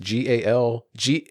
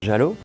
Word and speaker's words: giallo: So Dario Argento is largely known as the purveyor of the Giallo, I think it's pronounced. Giallo.